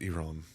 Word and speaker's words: Iran: date on it but it's pronounced Iran Iran Iran I was